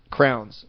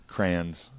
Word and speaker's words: crayons: It's how you How do you say like crayons? You say crayon? Oh, I always say crans.